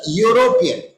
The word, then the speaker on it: European: So European, though it is starting with E followed by U, both are vowels but not vowel sound. We are pronouncing U, and while you spell U, you write Y-O-U.